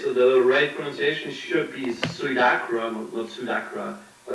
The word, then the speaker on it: Suidakra: they're gonna fix it for me but my pronunciation which is bad as pseudo crop yeah it is the little requisition should be sweet akram Wilson accra it's cool i get i don't